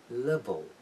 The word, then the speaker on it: level: light خیلی زنده و جوندار تلفظ میشه. اما اگر من مثلا بگم level میبینید که اولی رو میگم ل، دومی که پایانی باشه اون در انتها قرار گرفته میگم چی؟